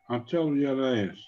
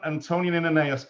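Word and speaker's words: antoninianus: How do you pronounce that? Antonianeus? Yes, Antonianeus. So a Roman Antonianeus coin.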